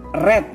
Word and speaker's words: red: Red ya Bu, bukan read, red ya.